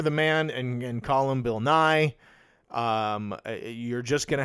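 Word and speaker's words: Bill Nighy: did I I I looked it up he pronounces it Bill NY I watched him do it yeah because I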